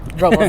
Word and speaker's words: Robles: Remember the radio announcer said Paso Robles. The people. locals say Robles.